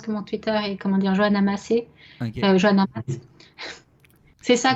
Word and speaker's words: Masse: C'est Massé, mais l'accent a disparu. Ok. Fait que ça s'écrit bien Mass, mais ça se prononce Massé.